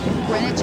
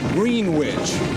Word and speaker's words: Greenwich: You know, so many people pronounce their hometown Greenwich. Now that really strikes a sour note in the hearts of all these kids. It's Greenwich. So We did it right.